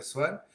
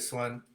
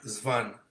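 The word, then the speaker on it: Swann: al medio social de Swan. Pronunciaba Svan. ¿Quién sabe?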